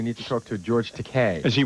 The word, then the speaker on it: Takei: George Takei is, it's Takei, by the way. No, it's Takei. Is it? Rhymes with okay.